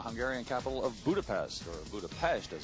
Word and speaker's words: Budapest: here in the Hungarian capital of Budapest or Budapest as it's pronounced straddling the Danube River about 100 miles